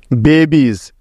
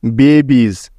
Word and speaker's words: babies: যেমন দেখো, গোজ, জিউইএস, dose, ডিউইএস dose, stories, STORIES stories, বেবিজ, BABIES বেবিজ।